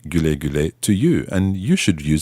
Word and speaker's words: güle güle: one that will work in most situations is Güle güle, listen again to how Şebnem pronounces this. güle güle, Try it one more time.